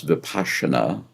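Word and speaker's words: Vipassana: came to me was the Tibetan practice uh of vipasana which they pronounce vasana and it's a little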